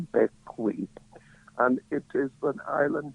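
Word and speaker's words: Bequia: Caribbean in the Eastern Caribbean an island called Beckle it is spell beq UIA a but it is pronounced becke and it is an island governed by the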